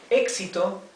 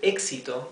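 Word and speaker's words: éxito: see that it has a TI here okay exito if you pronounce the word exito you can can uh intuitively discover realize that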